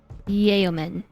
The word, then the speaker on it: yeoman: If you say it like I do, but pronounce the vowels really fast, it almost sounds like yo. Yeoman.